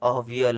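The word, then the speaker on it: aviyal: बच्चों ही name it एवियल उसको उसने एवियल उसका प्रोनाउंस अवियल होता है राइट अवियल भी बोल सकते हैं एवियल बिकम फेमस ऑल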